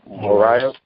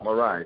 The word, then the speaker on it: Morais: also to the Honorable Senator, how you pronounce his last name? Morais. Morais. Okay. Yeah, yes. Morais.